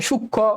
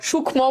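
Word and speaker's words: সূক্ষ্ম: করে দেখ এইযে জায়গাটাতে কোথাও কিন্তু মফালার উচ্চারণ নাই সূক্ষ সূক্ষম বলো না যক্ষা লক্ষণ আবার দেখ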